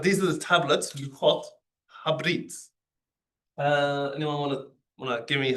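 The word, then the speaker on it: הברית: But in this case, the schwa is silent, so it's just ha brit.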